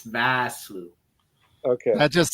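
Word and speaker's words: Vosloo: No, it's Arnold Basloo. V A. It's Vasloo.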